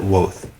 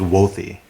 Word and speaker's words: Wothe: we've known each other you've pronounced it woth and the correct pronunciation is wealthy wealthy dang but the is fine is